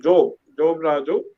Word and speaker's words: Job Raju: My name is Job Raju. If you have to pronounce it Job Raju. Job is from Bible, but I am an artist.